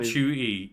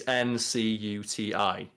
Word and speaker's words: Ncuti: his mum of like, your name's not Chuti, you're pronouncing it wrong. Like, it's like Ncuti or Ncuti, is it? Yeah, it's Ncuti.